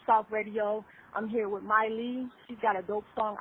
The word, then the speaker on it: Mai Lee: bit about all right what's up everybody it's Miley I'm so happy you pronounced my name right like do you know